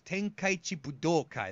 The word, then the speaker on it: Tenkaichi Budokai: I said that exact guys will say folks Tenkaichi Budokai that's how you pronounce how you say it